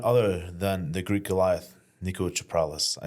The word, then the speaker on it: Niko Chaprales: Guest this week is none other than the Greek Goliath, Niko Chaprales.